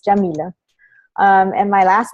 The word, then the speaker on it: Yamile: you're from so um my name is jameelah that's how you pronounce it it's usually the first question people have that know me from online how do you pronounce your name and it's jameelah and my last name